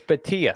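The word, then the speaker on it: Bhatia: It's Batia. No, I know. I can't pronounce anybody's name, so I've been saying it wrong for forever.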